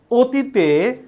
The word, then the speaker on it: অতীত: লিখেছি অ কিন্তু অ এর উচ্চারণটা ও এর মত হবে।